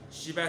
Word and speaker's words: Schiba: Shiba s'écrit S-C-H-I-B-A.